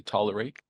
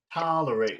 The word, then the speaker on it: tolerate: tolerate Tantrums during dinner I should open my mouth wide open when when I say tolerate tolerate well it helps it